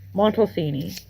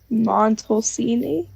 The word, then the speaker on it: Montalcini: wait how do I how do I pronounce his name montalfini montalcini yes ini matosini do you think